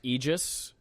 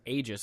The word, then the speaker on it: Aegis: It is pronounced Aegis, although Merriam-Webster lists Aegis as a secondary pronunciation. But it is Aegis.